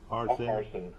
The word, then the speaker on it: Harsin: How do you pronounce that last name? Harsin.